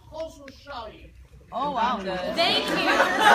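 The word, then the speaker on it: Khosrowshahi: That's how you pronounce Khosrow Shahi. Khosrow Shahi.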